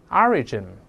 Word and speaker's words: origin: 我们大声再读一下这个词，注意重音在前面，慢慢来。Origin 叫事物的起源。